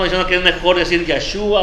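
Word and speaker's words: ישוע: En la historia, su nombre es conocido como Yeshua. Yeshua quizás es la mejor pronunciación, aunque Yeshua da el significado de su nombre.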